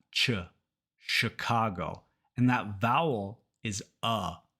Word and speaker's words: Chicago: ever started learning English in Spanish you might have learned it as Chicago but in English it's Chicago sha sh sh so in